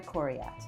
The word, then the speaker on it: Coryat: Please enjoy my conversation with Christopher Ender Corat. Am I pronouncing that correctly?